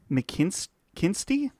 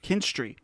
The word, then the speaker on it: McKinstry: How do you say this last name? David McKinsty. Mc David McKinstry. McKinstry.